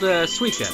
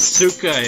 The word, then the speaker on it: Suica: I think I said Suka in my original playthrough. But now I know because I've seen those exact, like, letters combined together in Romanji and Japanese and how it's pronounced is Sui.